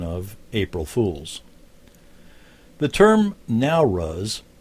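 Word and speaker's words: Nowruz: for the tradition of april fools the term now rus it's spelled n-o-w-r-u-z means literally new light and is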